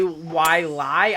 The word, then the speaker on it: Wailai: here we have hawaii why lie i think that's how you pronounce it it's w-a-i-l-a-i um can i just